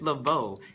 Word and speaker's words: Leveaux: And it's Leveaux, not Leveaux. It's Leveaux, Asa Leveaux.